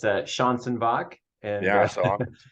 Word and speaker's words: Schanzenbach: say your last name again yeah it's uh Sean sinbach and yeah it's a mouthful but yeah thank